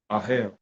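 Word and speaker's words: אהל: 168, Aleph Hey Lamed, granting the transliteration, O hell, pronunciation, Ahel, O hell.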